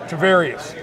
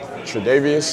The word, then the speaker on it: Tre'Davious: Tre'Davious. How do we pronounce it? Tre'Davious.